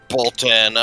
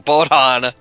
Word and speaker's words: Bodon: May as well see if I can somewhat try and help, help Bolton. Why can I never remember Bolton's name? Hold on. And I even said it wrong. Bodon.